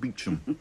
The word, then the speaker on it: Beauchamp: A lot will depend on Superintendent Beauchamp, pronounced Beecham.